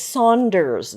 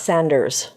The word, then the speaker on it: Saunders: It's Saunders, not Sanders. So it's Richard Saunders.